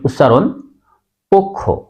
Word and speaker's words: পক্ষ: খেয় সে কারণেই অ এর সাথে ওকার হবে সঠিক উচ্চারণ পক্ষ আবার বলি শব্দের প্রথমে অ বা ব্যঞ্জনে যুক্ত